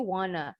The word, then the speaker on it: want to: Boleh juga bacanya want to jadi wanna. Hanya bacanya aja ya. Only say wanna in spoken, not in writing.